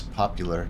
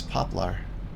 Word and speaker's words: poplar: But when other people say it, I've always just thought it was popular because that's what it sounds like they say. Poplar. But I guess it's poplar.